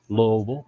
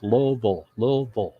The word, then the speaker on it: Louisville: to University of Louisville Louisville two syllables Louisville two syllables um but